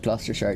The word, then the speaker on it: Gloucestershire: It's pronounced Gloucestershire.